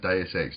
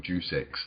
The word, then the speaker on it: Deus Ex: It's actually pronounced Deus Ex, not Juice Ex.